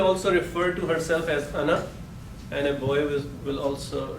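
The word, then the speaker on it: أنا: Now some things, this is written as ana, but it is pronounced as ana. Okay, noon is kept short.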